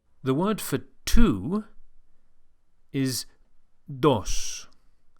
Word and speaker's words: dos: The Spanish D is softer than in English and is produced with the top of the tongue flat against the gum ridge, not with the tip of the tongue as in English.